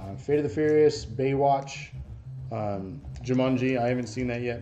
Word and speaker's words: Jumanji: Why are you saying it weird? What? You're saying Jumanji. Well, how do you say it? Like there's a U. It's Jumanji. Jumanji. With Jumanji. An A. Jumanji. Jumanji. Like from under.